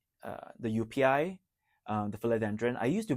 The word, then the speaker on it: joepii: It's like the spelling is like it's Joepii, but it's UPI. It's pronounced as UPI.